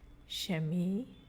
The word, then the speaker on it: Chemie: So when CH is in the beginning of a word, it sounds like SH again. Chemie, chemie.